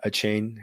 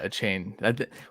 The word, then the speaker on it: Achane: is this the most polarizing guy devano uh a chain did I say it right yes yeah a chain we've we've messed that up on the football